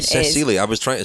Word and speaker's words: Cecilie: As I understand, the pronunciation Cecilie, I was trying to say it correctly. No, in Danish apparently it's Cecilia. Oh. But in English she pronounces it Cecily.